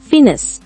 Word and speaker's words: finesse: இந்த வேர்டை எப்படி ப்ரொனவுன்ஸ் பண்ணணும்னா ஃபினஸ்.